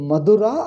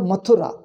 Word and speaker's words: Mathura: he had a doubt he asked madura or mathura now you know our telugu person he says if telugu people pronounce a da this has become a